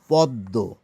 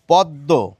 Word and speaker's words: পদ্ম: আমরা কিন্তু কিছু মানুষ বাদ দিয়ে প্রত্যেকেই প্রায় বলে থাকি এটি হচ্ছে পদ্ম। সংস্কৃত বা হিন্দি উচ্চারণের কথা বলছি না, আমি বাংলা উচ্চারণের কথা বলছি। এটিকে আমরা বলে থাকি পদ্ম। তো কেন এটি হয়ে গেল? আমাদের তো বলা উচিত ছিল পদ্ম, কিন্তু পদ্ম কেন বলছি?